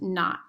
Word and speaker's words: naught: plus h naught so whenever you see like um a variable with a sub zero it's pronounced not so it's negative 16 t squared plus h naught and usually what this